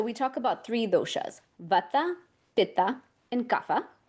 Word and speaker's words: Pitta: vata, pitha, and kafa. Here in the west, we pronounce them vata, pitta, and kafa.